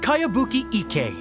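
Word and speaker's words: Kayabuki Ikkei: a really strange name who's this cowabunga it's pronounced kaiabuki ek that would be me outlander brigade is a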